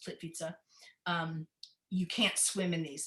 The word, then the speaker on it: Plitvice: But this at Plitvice looks like Plitvice, but because of the way it's pronounced, Plitvice, you can't swim in these, and everybody must stay on these hewn boardwalks.